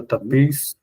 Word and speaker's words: tapis: lampe, le tapis, Non, on ne prononce pas la S, c'est tapis.